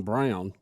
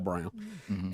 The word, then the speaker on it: Braun: Not only did we bring Werner von Braun, and explain why you're saying Brown and not Braun, because that's his name.